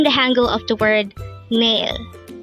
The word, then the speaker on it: 내일: male nail nail this pronounces a two-syllable word the first syllable is NE second syllable is ill pronounce it with me nail nail the Korean word